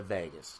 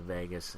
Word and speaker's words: vagus: is regulated by the vagus kind of like pronounced like Las Vegas but it's the AG us if you're interested in